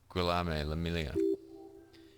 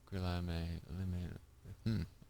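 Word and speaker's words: Guillaume Le Million: Guillaume Lamillia. If it doesn't rhyme, you're not pronouncing it right. Guillaume Lamillia.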